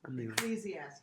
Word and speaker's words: Ecclesiastes: In, how do you pronounce it? Ecclesiastes? Ecclesiastes, yeah.